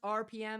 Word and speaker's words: Arpiyem: So, yes, it's pronounced RPM because those are my initials, and I turned that shit into a word.